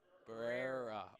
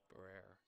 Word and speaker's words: Barrera: Barrera. Okay, so an extra emphasis on the rare. Okay, Barrera.